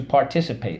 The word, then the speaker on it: participate: be that is to participate let's go participate par tea sip pate participate we use let's go